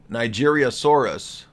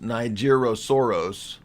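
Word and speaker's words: Nigersaurus: Was there a Nigeriosaurus? This is actually pronounced Nigerosaurus, and it's a one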